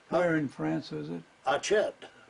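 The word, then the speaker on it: Achiet: build the camp, and we built the camp at Chet, and Oh, this is in a France.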